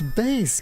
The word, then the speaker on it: Bass: gonna drive you nuts it's bass cuz it's Mega Man and it's all musical reference I'm not Keiji Inafune